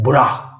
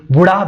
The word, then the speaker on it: बुरा: तो वो है बुरा, बुरा, बुरा, है ना। समटाइम आल्सो इसको बुढ़ा भी प्रोनाउंस करते हैं, बुढ़ा।